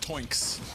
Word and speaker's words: Twinks: Toinks. Like the sound a pig makes.